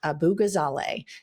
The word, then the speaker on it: Abu-Ghazaleh: And one person we have our eye on from the great state of Illinois is Kat Abu-Ghazaleh. Did I pronounce that correctly?